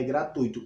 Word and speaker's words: gratuito: Apesar de tudo, ó, embora na fala pronúncia as pessoas variem, porque a questão não é simplesmente como você diz, é a vogal mais forte, mas olha só, a forma correta de se falar é gratuito e não gratuito.